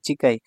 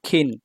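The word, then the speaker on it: 近: চিকাইয়ের কাঞ্জি ঠিক আছে চিকাই এটা জাপানিজ উচ্চারণ হচ্ছে চিকাই আর চাইনিজ উচ্চারণ হচ্ছে খিন বা কিন ঠিক আছে আর চিকাই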